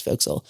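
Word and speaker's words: forecastle: And we had the chance to sleep in the folks, which is spelled for castle but pronounced folks.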